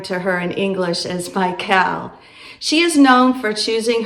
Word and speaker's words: Michal: The name Mel actually means who is like Yahweh and is pronounced in the Hebrew Mihal. I am going to keep referring to her in English as Michael.